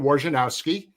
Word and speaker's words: Wojnarowski: And it used to drive me nuts that they always kind of pronounced your name the way it was spelled as opposed to.